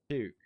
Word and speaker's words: Bouquet: Is it pronounced Pouquet or Puke? It's puke. Yeah, I stand corrected here in court, Your Honor.